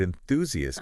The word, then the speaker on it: enthusiast: Like with the word enthusiast, Uh-huh. they really emphasize the stress Yes. on the second syllable Right.